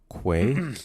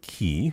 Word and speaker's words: Quay: Make it's this pronounced Quay. Was my voice here? Say it with me now. With a Q. With a Q. Quay. Quay. Quay. Not what? Key. I don't know who says key.